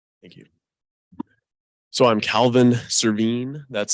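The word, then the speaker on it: Servheen: where you're from thank you so I'm Calvin cerveen that's spelled s-e-r-v-h-e-e-n I'm a senator in the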